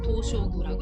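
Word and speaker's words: 東照宮: 도쇼구라고 일본어로는 발음을 합니다.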